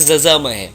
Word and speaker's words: यजामहे: में बोला जाए तो जहां पर बोलते हैं यजामहे अब यहां पर अगर वेद की भाषा में तो बोलेंगे जजा महे तो आप अपने हिसाब